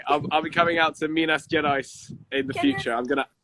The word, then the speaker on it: Minas Gerais: That sounds really cool and something that I shouldn't try to pronounce myself. Please try it. What? Say it one more time. Minas. Yes, Gerais. Minas Gerais.